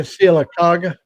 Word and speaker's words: Sylacauga: Sylacauga. Thank you. Yeah, I need an Alabama to pronounce that for me. Thank you, Mac. Yeah, Sylacauga.